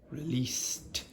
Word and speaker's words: released: Released the problem, ed at the end. Released. Because s is not voiced, there's no voicing, so the ed is t.